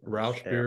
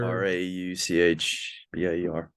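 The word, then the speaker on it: Rauchbier: Again, probably butchered the Rausch beer. Rauchbeer.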